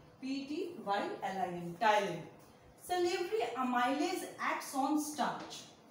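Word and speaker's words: ptyalin: Salivary amylase is also known as टाइलिन. P is silent in this. P-T-Y-L-I-N. टाइलिन.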